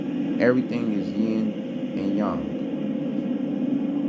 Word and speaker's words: yang: Everything is yin and yang. Everything is yin and yang. You say yang, but how it's pronounced is yang.